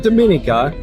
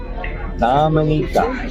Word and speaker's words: Dominica: ah Dominica not not Dominica Dominica yeah so we asked the taxi driver how do you say the island it's not Dominica it's Dominica he grew up here he